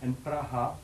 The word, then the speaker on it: Praha: - Praha!